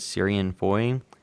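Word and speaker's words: Ciarán Foy: I guess you pronounce it Syrian Foy.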